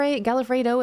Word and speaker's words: Galifo: Is it Gal of Fr? Galifo is how my name is pronounced.